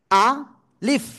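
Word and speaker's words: ألف: জায়গা থেকে উচ্চারণ হবে আলিফ অক্ষরটা উচ্চারণ হবে মুখের খালি জায়গা থেকে আমি আবারো বলি আ লিফ লিফ মানে কি ঠোঁট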